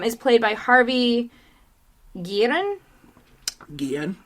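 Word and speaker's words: Guillén: played by harvey guillen guillen i think it's it's guian okay yeah um so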